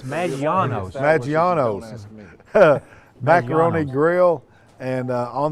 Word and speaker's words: Maggiano's: Now that's to a variety of restaurants in the area, Chili's, Maganino's, is that pronounce that right, Ben? I just Ben about that. I think it's Maggiano's.